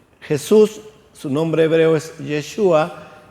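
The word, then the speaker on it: ישוע: Jesús, su nombre hebreo es Yeshua, y no se utiliza J, es una transliteración, la J, del hebreo al español.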